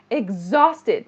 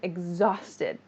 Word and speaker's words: exhausted: I'm exhausted. The pronunciation here is not exhausted, but exhausted. Think of it like eggs, if that helps. That's how we say it in speech.